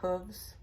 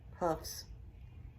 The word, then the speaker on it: hooves: like the tramp of hooves? Hoofs, because it rhymes with roofs.